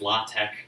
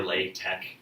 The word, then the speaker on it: LaTeX: latex he was like the X is not pronounced like an X in English or it's pronounced like